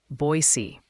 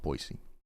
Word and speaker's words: Boise: So it is just Boise. It's not Boise.